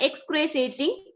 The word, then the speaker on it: excruciating: On the day when we climbed the mountains, at night I had an excruciating leg ache. An excruciating. Sure, it is a sure sound. Excruciating.